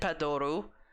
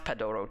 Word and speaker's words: Padoru: until I got gifted Padoru and suddenly I learned about the Padoru and now I have my own Padoru. Take a shot every time I say Padoru and mispronounce Padoro, too.